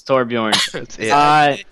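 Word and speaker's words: Torbjörn: if you don't say it right torbjorn it's torbjorn I never knew Tor he's a guy who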